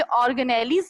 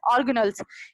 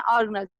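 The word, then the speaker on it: organelles: ये ऑर्गेनेलीज नहीं होता बेटा, इट्स नोन एज ऑर्गेनल्स। इसको हम प्रोनाउंस करते हैं ऑर्गेनल्स, जिसके बहुत ही इंपॉर्टेंट फंक्शन होते हैं, लाइक रिस्पायरेशन, एक्सक्रीशन, एक्सेट्रा।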